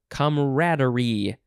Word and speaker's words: camaraderie: All right, next is camaraderie.